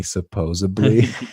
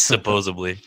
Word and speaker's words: supposedly: I think watched her pronounce supposedly supposably oh yeah that's my trigger it's supposedly my freak was a